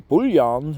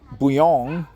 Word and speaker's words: bouillon: uh definitely help understand buong or buan have two pronunciations even though it's just French French people would pronounce it buong broth ingredients interchangeably served